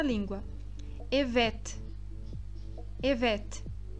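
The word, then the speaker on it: evet: sim em turco sim o erro mais comum ao pronunciar essa palavra é o te Este último te porque o te do turco e o te do português Eles são diferentes é incorreto eu pronunciar essa palavra como Ivete Ivete com este do final do português essa pronúncia está incorreta e o te do final é um ter que será pronunciado na ponta da língua Ivete Oi Ivete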